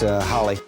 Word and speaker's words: Halley: When I was a kid was Haley. Now it's Holly. Apparently it's pronounced Comet, but uh I'm just going to go with Haley's Comet.